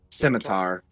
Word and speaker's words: scimitar: have a heart attack stroke how is it pronounced cog scimitar scimitar he has a very rude looking scimitar on